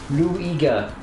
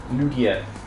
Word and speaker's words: Lugia: Luigia. Lugia.